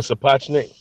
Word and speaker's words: Sapochnik: Spachnochnik. Oh, yeah, Miguel Sapochnik. That's it.